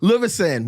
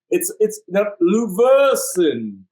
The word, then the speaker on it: Luversan: Lu as in toilet, verse as in song, sin as That's in... what I said. Luversan. It's not Luversan.